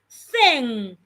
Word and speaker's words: thin: example if I have the word t i n the word will be pronounced tin look at my mouth Tin Tin T but if I have t h i n look at my mouth the word will be pronounced thing th th th what is the difference the difference is the first one has a T and it sounds T my tongue is inside tin the second one there